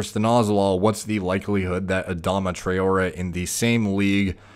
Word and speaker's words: Adama: Do you think Adam I keep saying Adam? It's Adama. At least I think so.